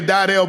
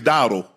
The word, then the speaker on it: Dowdle: Hey, people say Daidell, but I think it's Dowdle. Yeah, I'm going Dowdle or Daidell. I've heard it both ways.